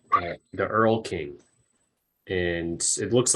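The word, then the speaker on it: Erlking: stems from Earl Conan and it's okay the Earl King and it looks like Earthling but it's Earl King but it's also sorry I pronounced it wrong yeah it's e-er-l-k-i-n-g and um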